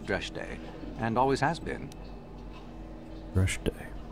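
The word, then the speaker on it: Dreshdae: Dreshde. Okay, I've been pronouncing it wrong all this time.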